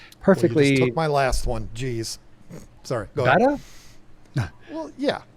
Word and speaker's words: betta: Well, I'm not a snob, so I call them betas still. You fancy fish people, you pronounce it betta, but The beta. if I'm being honest, I've tried my whole life. I've tried to switch to betta, and I just can't do it.